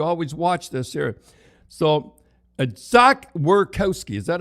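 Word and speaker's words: Zach Werenski: So Zach Werkowski, is that how you say it?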